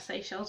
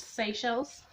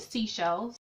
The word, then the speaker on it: Seychelles: Do you know how many people I've seen who can't pronounce Seychelles? Someone pronounced it seashells, which isn't too bad, but still like, have you not heard of these words before?